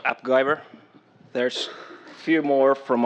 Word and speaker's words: AppGyver: So, about my company, we are AppGyver. That rhymes with MacGyver.